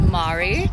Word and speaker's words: Mary: It's spelled like the name Mary, but it's pronounced Mari.